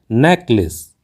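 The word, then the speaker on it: necklace: कहना बिलकुल गलत है क्योंकि इस का सही उच्चारण होता है नेकलेस नेकलेस एक उधार लेकर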